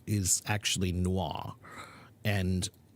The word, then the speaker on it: noir: only here on Wednesday and Friday how to pronounce the word Noah Noah is a French word n o i r is actually Noah and it's a French word actually film Noir